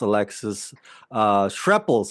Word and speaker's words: Alexis Schrepple: I came across Alexis Schrepples, right? Did I pronounce that correctly?